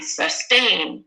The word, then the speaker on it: sustain: sustain listen carefully sustain is it the first syllable or second syllable stressed more as most of you are saying Almost 100% accuracy B sustain da okay excellent you guys